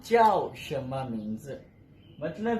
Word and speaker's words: x: Next हमारा sound है शी। नजर आपको एक्स आ रहा है, लेकिन चाइनीज प्रोनाउंसिएशन में इसको हम शी की आवाज में पढ़ेंगे।